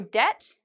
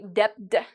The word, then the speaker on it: debt: There are always exceptions to this rule, but in general, if you see B and T, usually you do not pronounce the B. Okay. So debt, I've heard many students say debt, and they get really